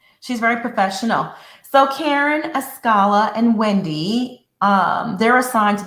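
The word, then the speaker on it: Askale: So that dies down, and Ascala, that's how you pronounce her name? Ascala. Okay, Ascala. She is so pretty.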